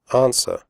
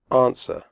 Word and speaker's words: answer: close the door close answer the WC is silent answer do not say ants